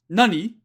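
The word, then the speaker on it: 何: So kore, nani? If there were no des here, this would be pronounced nani, but it's being pronounced nan because there's a des here.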